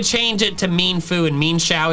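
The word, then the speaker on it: Mienshao: Another pair of evolutionarily linked Pokemon that I pronounced wrong are Mienfoo and Xiao. Apparently, the official pronunciation is Mienfoo and Xiao. Mienfoo. Xiao. This was news to me.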